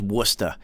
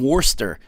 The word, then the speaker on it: Worcester: i swear to god it's pronounced worcester not even worster worcester like it's pronounced like that worcester what in the [